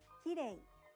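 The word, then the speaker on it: きれい: Did you pronounce de correctly? English native speakers often pronounce it like the R sound in English and say kirei. You should lightly tap the roof of your mouth with the tongue, but don't roll it. It's closer to an L in English.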